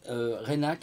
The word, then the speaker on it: Reinach: Alors je rappelle sa chaîne, hein, c'est Didier Renac, hein, ça s'écrit R-E-I-N-A-C-H. Voilà, C-H, comme voilà, C-H.